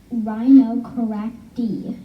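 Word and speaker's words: Rhinocerotidae: And the family name is Rhinocoracti, is how you say their family name.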